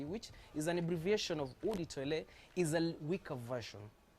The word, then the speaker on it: eau de toilette: something something what's the difference i love the pronunciation but it's so it's called odi toilet and then you have woody perfume that is